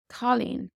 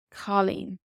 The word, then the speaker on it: cailín: Colleen, Colleen, girl.